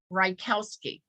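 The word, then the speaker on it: Rajkowski: do it and so in english it would be pronounced rykowski so i would tell them think about a cow eating rye bread on a pair of skis rykowski do you know they never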